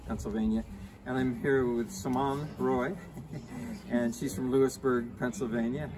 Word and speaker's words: Simonne Roy: and I'm here with Simone Roy and she's from Lewisburg Pennsylvania I've just seen that because I'm practicing the French pronunciation of her name I was pretty good